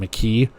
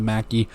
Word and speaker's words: Mackey: Throw over the middle, Johnson to they kept calling him McKee. It's Brandon Mackey. I guess you could pronounce it differently. Who am I to judge? But Johnson to Mackey.